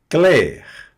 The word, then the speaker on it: clair: Claire. Pronuncio o R aqui.